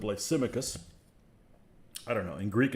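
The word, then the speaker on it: Lysimachus: but it's painful uh he calls him lysomachus lysomachus instead of lysimicus i don't know in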